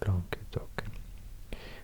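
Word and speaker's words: Languedoc: long long long talk I think it's pronounced long talk that means the language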